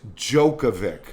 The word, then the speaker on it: Djokovic: it's Djokovic. Oh, as in the Joker. Exactly. So But I think the correct Serbian pronunciation is Jokovic.